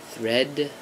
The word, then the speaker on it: thread: have again a longer vowel before the D and the D is very soft and then the shorter vowel for the tea and the tea is hard thread and threat and if